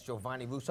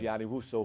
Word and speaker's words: Gianni Russo: Now the gentleman on the cover, that's Giovanni Russo? How do you say That's his name? Gianni Russo, played Carlos Okay.